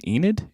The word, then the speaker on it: Enid: Enid? Is that how you pronounce that? Enid's a name, yeah. Enid.